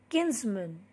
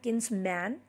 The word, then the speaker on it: kinsmen: courageous craving very cowardly kinsmen it's not kin's man the exact pronunciation of this word is kinsmen men men from the